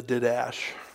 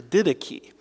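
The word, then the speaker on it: Didache: called the ditiki uh by the way don't pronounce that did the didash I was talking to one of my friends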